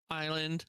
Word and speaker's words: island: Yeah, that's a silent S.